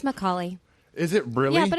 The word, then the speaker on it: Micale: It's Micale.